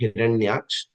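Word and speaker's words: हिरण्याक्ष: The first one, I think in the commentary, Mataji was getting the pronunciation wrong, but the first demon is Hiranyaksh, who's the brother of Hiranyakashipu, and the second demon is Hiranyakashipu.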